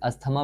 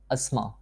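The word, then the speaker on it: asthma: Disease बीमारियों का, including अस्थमा, ये बहुत गलत प्रोनाउंस करते हैं, कोई से अस्थमा पड़ता है, ये टोटली रॉन्ग है। अस्थमा, इसमें ये टी एच की आवाज़, आप धा की आवाज़ नहीं निकालेंगे। अस्थमा, स्ट्रोक्स दौरे पड़ना, दमा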